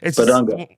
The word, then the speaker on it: Bidunga: Pat Kelsey landing Flo Badunga and I I think I'm saying that right right? Yeah. You are. Okay. Badunga.